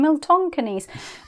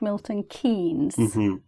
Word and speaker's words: Milton Keynes: Miltonkeys. And obviously the place is called Milton Keynes, right? But the stress was off.